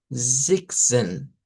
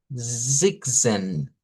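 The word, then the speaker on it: sechzehn: Y luego el 16 que se pronuncia como Zigzen, Zigzen.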